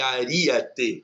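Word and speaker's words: aríete: Eu tenho ágape, amálgame e aríate, que também, às vezes, né, as pessoas pronunciam errado. Ariete, não é ariete, nem ariete, é aríate.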